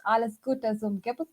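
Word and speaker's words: Alles Gute: for the birthday stuff is pronounced Al as good as G it means happy birthday and the picture here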